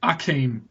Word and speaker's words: Akeem: And I suppose I should go with Akeem Olajuwon for the third pick. Yeah, that's true. We didn't have the silent H at that stage.